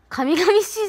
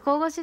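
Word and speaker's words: 神々しい: 神々しいじゃなくて神々しいって読むんだね。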